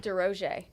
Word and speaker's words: DesRosiers: DesRosiers Yeah.